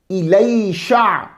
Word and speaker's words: الیسع: کی آیت نمبر 48۔ اس کے مختلف تلفظ ملیں گے آپ کو، الیسع، الیسع، الیشع۔ الکسائی کی قرات میں 2 لام ہیں، الیسع۔ ابن عساکر کہتے ہیں